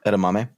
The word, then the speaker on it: edamame: Edamame.